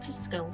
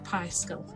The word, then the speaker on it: Piskel: put in here is something called piscal or piscal and that's spelled p i s k e l okay now it's brought